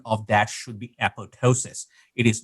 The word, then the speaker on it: apoptosis: of that should be apoptosis it is not you do not the p is silent where the word was